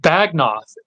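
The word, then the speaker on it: Beagnoth: It's pronounced Bagnoth, and it was a North style sword found in England.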